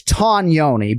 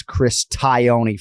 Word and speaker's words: Tognoni: So it's Tognoni, but he has been ubiquitously referred to as Chris Tioni for so long that he's okay if people don't go with the correct Italian pronunciation, but it is Chris Tognoni, and Buffer and I